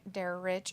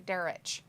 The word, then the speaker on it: Derek: Stampede it could be Derek is my name and dare rich is how you say it oh thank you derrich Miranda tell me I